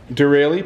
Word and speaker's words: Derale: the uh really hyper cool how do you pronounce that again dereli performance nice yeah hyper cool that's the model